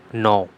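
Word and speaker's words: gnaw: नो, इसे हम क्या बोलेंगे? नो। आपको यहाँ पे जी नहीं लगाना, ग्रॉ नहीं बोलना, ठीक है। इट इज़ जी is silent hair.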